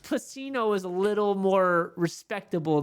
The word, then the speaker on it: Pacino: There's no H. Pacino.